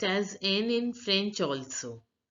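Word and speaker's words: nid: Now here also the last letter of the word D is not pronounced. So this word is pronounced as ni.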